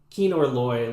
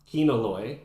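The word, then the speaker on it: Kino Loy: How do you say it? There's no R. Keanor Loy.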